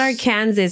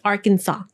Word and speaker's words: Arkansas: Alabama no Arizona no Arkansas Aransas it's not Aransas it's Arkansas that's a deas the the S is is silent let's ask Let's Ask Google hold on